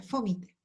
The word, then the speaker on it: fómite: Esta palabra salía con acento, sale con acento en algunos otros lugares y sería fómite, ¿ya?